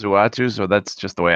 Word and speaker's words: Uatu: Utu? I say Uatu. Uatu, okay. So there's another one in my dialect hall of fame. But everybody I ever hear say it says Uatu, so that's just the way I say it.